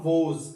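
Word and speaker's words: Woese: थे American biologist थे जिनका नाम था कार्ल वोज क्या नाम है कार्ल वोज इनके स्पेलिंग धन रखने है डब्लू ओ ई एसई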